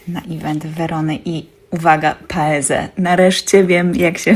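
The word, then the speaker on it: Paese: najpierw wybrałam się na event wony i uwaga paez Nareszcie wiem jak się wymawia prawidłowo tą firmę nie wiem dlaczego zakłułam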